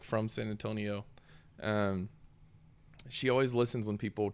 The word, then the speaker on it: San Antonio: friend Rachel laven down and she's like from San Antonio she always listens when people try to rhyme or talk about San Antonio yeah she's like if they really mean it it's San Antonio and not saying in tone because it's like